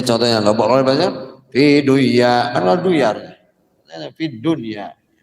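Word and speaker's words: دنيا: Nah, ini bacanya tetap harus dunya, padahal kan kalau secara hukumnya nun sukun belum ya kan ini harusnya idgham ya, tapi dibaca idhar.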